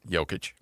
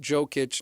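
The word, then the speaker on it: Jokić: Say it with me. It took a little bit. Jokic. Jokic. Okay. Not Jokic. Not, you know, you can always go joker if you sure if you make the the J soft.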